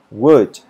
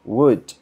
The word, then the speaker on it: would: Aquí la L no se pronuncia y la OU se pronuncia como una U. Entonces se dice would. Y aparte que la W también es como una U, entonces va a ser como una U larga, would.